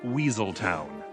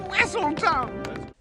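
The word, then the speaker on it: Weselton: Duke of Wessleton who always had his title mispronounced. Arendelle will henceforth and forever no longer do business of any sort with Weasel Town. Whistle. It's Whistle Town.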